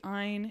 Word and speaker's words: Ayn: it's just like okay ein it rhymes with mine and then rand just